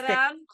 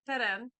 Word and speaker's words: Teran: It's pronounced Teran? Teran.